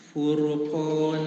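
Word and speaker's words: فرقان: sebelumnya dah quurubatun qubatun Furqon furqana nah hati dengan qnya ya J Q qo dijaga ketebalannya sekali lagi Furqon Furqon tiib Berikutnya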